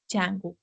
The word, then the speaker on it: Django: is uh Jango pronounced the D is silent so we call it Jango so Jango is a